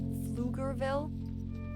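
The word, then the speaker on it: Pflugerville: It's even like what is it the like the towns like Flugerville? You think it's spelled with an F. They're like no no PF.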